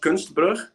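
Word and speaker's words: Kunstbrug: yes of course um it's pronounced gunsberg and in Dutch translated to English it's art Bridge so and that's because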